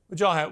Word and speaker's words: Wajahat: Wajahat, what do you say to that? Well, first of all, excellent pronunciation of my name, Brooke.